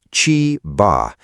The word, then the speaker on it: Chiba: On Thursday, August 13th, 2026, an extraordinary rainfall event settled over Chiba, pronounced Chee-bah, immediately east of Tokyo.